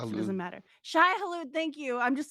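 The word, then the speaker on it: Shai-Hulud: and ride them because they became one with Sahalud. I said the name wrong, but I just Shai woke up, so it doesn't Hulud. matter. Shai Halud, thank you.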